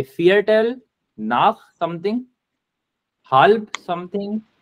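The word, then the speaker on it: vier: Yes, so Wajiha तौफीक ने सवाल किया कि V is pronounced as F. Yes, this is true. So welcome to German. And V is F. Oops. V is F. So इसको हम बोलेंगे fear tell.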